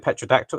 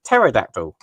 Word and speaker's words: pterodactyl: I couldn't believe you kept saying petradactyl. It's pterodactyl.